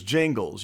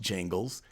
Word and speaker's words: Gingles: case called Thornburg versus Jingles. You can look that up. It's Gingles. I think it's pronounced Jingles.